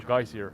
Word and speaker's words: geyser: The word is pronounced geyser, with the emphasis on the first syllable.